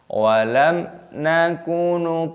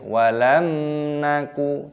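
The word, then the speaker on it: وَلَمْ نَكُ: 44 Perhatikan cara membacanya walam nakuno paint Mul miskin minimnya sukun bertemu dengan non-it harsya nih dibaca jelas dengan didengungkan dibaca qithar jelas walam naku tidak boleh walang ngaku tidak boleh ditemukan walam nakuno pokno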